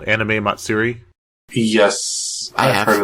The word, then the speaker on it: Matsuri: Matsuri, yeah.